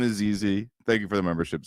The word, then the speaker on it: ZZ: I both mispronounced and misgendered ZZ last time. His name is ZZ.